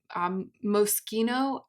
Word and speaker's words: Moschino: It's Moschino. I never know if it's pronounced Moschino or Moschino.